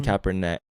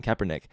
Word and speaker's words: Kaepernick: from both and when Colin kaeper neck keep saying neck I know how to say his name Kaepernick um started kneeling and